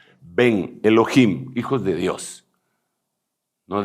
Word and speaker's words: ben: decir hijos en masculino ve grande e n si se pronuncia porque ellos no tienen b grande como la nuestra ven Elohim hijos de Dios